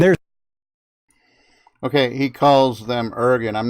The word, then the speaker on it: Irgun: Ergen, IRGUN. He'll spell it out.